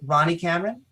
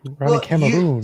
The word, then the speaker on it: Ronny Cameron: properly out loud because what's in my head, Ronnie Cameron? Yes. Sound fantastic. All right. Is there another way to pronounce it? Ronnie Cameroon.